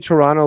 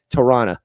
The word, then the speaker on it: Toronto: Um so basically what you want to say is Toronto. The last T is silent. So it's in fact the O sounds like an A. Toronto.